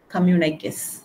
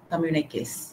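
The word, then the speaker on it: communiqué: c o mmu n i quu s it's pronounced as communic communic okay so communic are issued by the government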